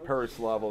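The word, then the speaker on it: Pereslavl: Alexander, I can't pronounce that. Yeah, Preslavl. Perislavl. Perislavl, there you go.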